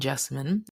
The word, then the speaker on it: Jessamyn: My name is Jessamyn, and I am the host of Specimen the Sociologist. I tend to tell folks that my name rhymes with specimen, but with a J.